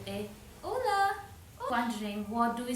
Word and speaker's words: hola: Hola, o l a hola.